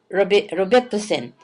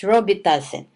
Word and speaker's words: Robitussin: So I told, okay, go ahead and give Robitussin. That's what we pronounce back home, but in here it's Robitussin, which is really, I